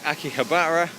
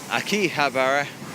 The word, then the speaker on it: Akihabara: can have our station depending on a person's pronunciation this could be Akihabara Akihabara Akihabara Akiba a Kiva there's a whole bunch of alloys I just called Akihabara